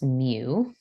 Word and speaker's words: mu: top so this first symbol is called we pronounce mu and the second symbol is called X bar